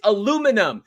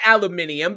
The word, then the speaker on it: aluminum: lonard put up there it's aluminum not aluminium because there's no I after the N wrong